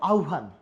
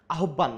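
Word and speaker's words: আহ্বান: খুব বেশি ভুল করি আমরা কি বলি আহবান নাচ আহ কি হবে আউভান শব্দ কি হবে? আহভান আহভান আহব্বান না আহব্বান না এদের মূল শব্দ কি?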